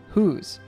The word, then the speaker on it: whose: another Nice pronunciation Point notice that the s in whose actually has a z sound whose also notice that Duke